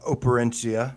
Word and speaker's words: Operencia: So the last thing I want to add on Operencia, which is how you say it, it's kind of a.